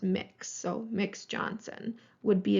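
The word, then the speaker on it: Mx: the gender neutral honorific it's pronounced mix so mix Johnson would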